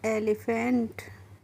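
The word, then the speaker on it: elephant: एच ए एनटी तो ई एल ई पी एच ए एनटी को हम पढ़ते हैं एलीफेंट और एलीफेंट मींस क्या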